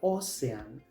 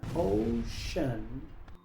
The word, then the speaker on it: ocean: Muchos pronuncian esta palabra o sean, pero aquí la c se pronuncia como sh. Así que esta palabra se pronuncia ocean, palabra número nueve.